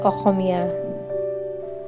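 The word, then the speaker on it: অসমীয়া: the state language and in sms osomiya is pronounced as ahomia assam has a large number of tribes like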